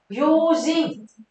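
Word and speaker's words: 用心: Dụng tâm đọc là gì mọi người ơi? Yojin.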